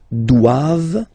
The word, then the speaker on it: doivent: All right, and then the last one, ils doivent. So same thing, classic ending for the plural form, E-N-T here, okay, but then you don't pronounce it.